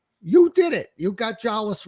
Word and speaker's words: Jolles: them uh but you did it you got jwas right that's how you say it so it's